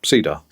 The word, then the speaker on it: CEDAR: had cyen D mhm obviously pronounced Ceda um so they looked